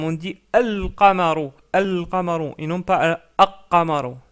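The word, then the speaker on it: الْقَمَرُ: Par contre, on prononce bien le lem. On dit al-qamaru, al-qamaru, et non pas al-qamaru.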